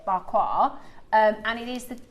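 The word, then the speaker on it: Pa Kua: so it's P-A-K-U-A. It means, but you pronounce it barquois.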